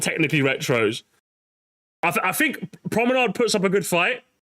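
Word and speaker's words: promenade: The R sound is completely different in French.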